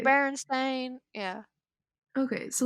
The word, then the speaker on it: Berenstain: i remember it s-t-e-i-n don't you pronounce it like you pronounced like bears bear was it berenstain it's bearing stain yeah it's a